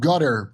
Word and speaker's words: Qatar: So it's called Gutter. That's how you pronounce it. Gutter. Also remember Ian Carol got smeared as working for Gutter.